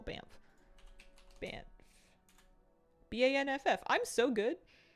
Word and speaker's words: Banff: Banff. I mean, lots of places, but I'm thinking like, yeah, that's the first thing that comes to mind. Spelled B-A-N, what is it? B-A-N-F-F? How do you spell Banff?